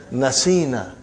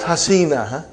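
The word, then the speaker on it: نَسِينَا: You will pronounce as nasina. Not hasina. Nasina.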